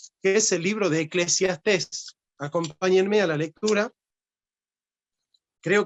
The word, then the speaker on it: Eclesiastés: Eclesiastés, con acento en la última va mostrando la experiencia de alguien que desea un montón de cosas, que nunca lo llenan.